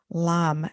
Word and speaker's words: Lam: Lam.